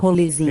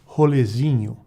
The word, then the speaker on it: rolezinho: Rolezinho. And it is rolezinho. Rolezinho. Now, you notice that you heard the pronunciation.